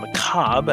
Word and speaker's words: macabre: The Don unveils his nicely kept Journal 6, and his mispronunciation of macabre, another point for not pronouncing the last syllable, which gives sufficient fuel for the second half of the episode.